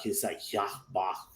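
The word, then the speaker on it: Yhwach: So it's like Hya Bach. It's that like how you almost say it.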